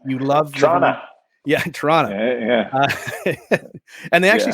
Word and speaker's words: Toronto: someone from Canada uh Toronto is only pronounced of one te not two T's and also you're not you're not really a Canadian uh unless you say you love Toronto yeah Toronto and they actually said